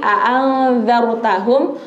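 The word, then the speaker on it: أأنذرتهم: Tapi a'anzartahum roknya tebal. Jadi a'anzartahum, seperti itu. Bukan zar biasa, kan beda. Zar dengan zar beda kan? Nah, kita bacanya zar. A'anzartahum. Kenapa? Karena roknya itu rok tafkhim, rok yang harus dibaca tebal.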